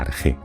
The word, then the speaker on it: arjé: que él llamó la arjé. Arjé se escribe normalmente con RKH, aunque a veces también se puede encontrar escrito como suena, arjé con J.